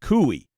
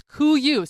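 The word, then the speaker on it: Kuiu: brand Kuyu, and it's not Kooi. No, it's Cooyu. Spelled I always thought it was Kooi. It's spelled K U IU.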